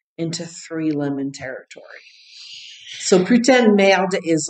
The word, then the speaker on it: putain: Putain. It's spelled P-U-T-A-I-N. Putain. Yeah, you have to use the P-U-U-U-U in French. Putain.